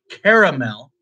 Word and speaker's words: caramel: question of all is do you think in caramel how it's spelled the a is silent yes okay charles says love